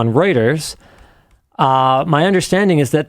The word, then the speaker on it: Reuters: Um, is it pronounced Ruters? I thought it was Reuters. Reuters.